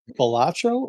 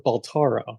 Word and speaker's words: Balatro: Is it Balatro or Baltaro? Balatro, I think.